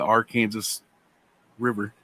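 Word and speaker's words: Arkansas River: and whatnot it's uh it's actually called the our kansas river wow and spelled the same way as the date of arkansas if i if i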